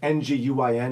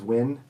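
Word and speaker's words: Nguyen: Win, it's an Nguin is Win.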